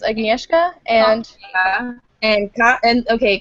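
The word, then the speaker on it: Agnieszka: I was I was give me the name pronunciations aneska and and and okay Kasha Kasha okay aneska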